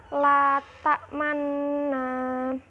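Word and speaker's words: لا تأمنا: Cara membacanya itu memonyongkan kedua bibirnya ketika kita membacakan nun yang pertama, la ta'manna.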